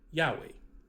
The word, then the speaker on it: Yahweh: So I'm sure if you've been tuning in and watching us, you will have heard that we pronounce the Tetragrammaton, his holy name, Yahweh.